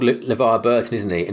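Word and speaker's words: LeVar: kept calling he's called levi burton isn't he and he kept calling him lever lever man lever or something like that like something weird kept getting his name wrong all throughout the thing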